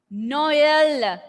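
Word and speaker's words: Noël: Noel, O sound, E sound is separated.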